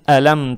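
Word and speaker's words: أَلَمْ: То есть не «ла», а «ля», «ля». Мягко читаем.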